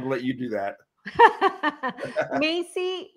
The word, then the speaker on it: Maisie: Maisie, like the store.